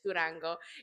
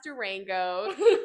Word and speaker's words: Durango: I said it in Spanish. Durango. In English, it's pronounced Durango.